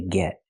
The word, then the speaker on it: get: We say get. Get get in line. We hear the pronunciation of t change to a fast d because it's between vowels.